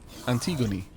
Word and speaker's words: Antigone: Oh, it's the E is pronounced as an E rather than making the word gone. Okay, Antigone.